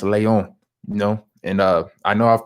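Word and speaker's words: Léon: Leon. They can't even put the italicized E on there. The acute E, excuse me. The acute E on my E for Leon. It's not Leon, it's Leon, And I know I've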